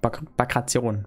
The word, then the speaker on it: Bagration: Also man sagt echt Bagration. Bagration. Piotr Bagration. Bagration. Piotr Bagration. Gut. Haben wir das. Okay, wie spricht man dann dieses Schiff aus?